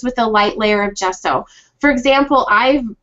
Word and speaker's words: gesso: is gesso is that did that did i pronounce it right yes and how is it different from knowledgebot um well gesso and this is just my like my opinion